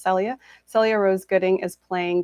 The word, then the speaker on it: Celia: mispronounced her name earlier but her name is pronounced celia celia rose gooding is playing the character of